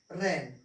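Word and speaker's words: reign: करेंगे, इनको हम साइलेंट कर देंगे, इनका हम उच्चारण नहीं करेंगे। ठीक है, तो पढ़ेंगे क्या, इसको पढ़ेंगे साइन, ये है डिजाइन, फॉरेन, रेन।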